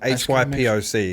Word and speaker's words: hypoc: That's HYPOC, because a lot of people actually spell it wrong.